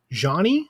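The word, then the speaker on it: Zheani: an artist called um I think it's pronounced like Johnny it's z h EA n i and she's like a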